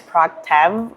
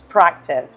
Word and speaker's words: proactive: In this case, proactive, we would know that we wouldn't pronounce it as proactive or proactive. It's proactive. So it's between the I and the E.